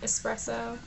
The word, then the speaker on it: espresso: my brown eyeliner I'm using Beauty controls espresso espresso yeah that's how you say it um and